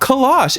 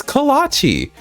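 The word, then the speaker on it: kolache: It's not kalash, it's kalachi. So, that was life-changing.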